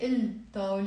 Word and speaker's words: الطاولة: Actually here it's easier for you because I actually write the way we pronounce it, okay? So we will not say الطاولة, it's الطاولة, the table.